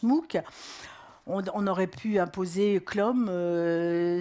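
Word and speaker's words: MOOC: alors que c'est à c'est un sigle enfin c'est un acronyme puisque on le prononce mook on aurait pu imposer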